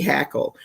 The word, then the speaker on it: Hackl: this week by Kathy Hackle. Her last name is spelled Hackl.